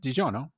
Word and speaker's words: DiGiorno: DiGiorno is that how you say it yeah DiGiorno DiGiorno transcribe that's right uh turns crust into